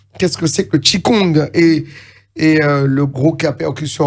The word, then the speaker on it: Qigong: Voilà, Qigong, ça s'écrit Q-I-G-O-N-G, oui. Qigong.